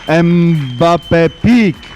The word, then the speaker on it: MBAPEEK: A round of applause for Bobo and, of course, Team MBAPEEK, right?